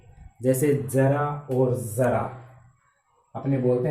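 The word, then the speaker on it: ज़रा: और जिसमें तलबिंदु यानी नुक्ता है, इसका उच्चारण हो गया जरा, ज कंपन युक्त हो गया, बिखर गई आवाज, तो इसका अर्थ हो गया थोड़ा सा।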